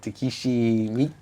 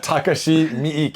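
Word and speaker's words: Takashi Miike: find some more cool remember when I butchered his name uh uh teishi me uh how do you say it again Takashi mik yes um animac was a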